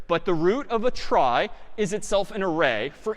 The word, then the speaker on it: trie: something here called a try so a try sort of a weird name and pronunciation short for retrieval pronounced try typically a try is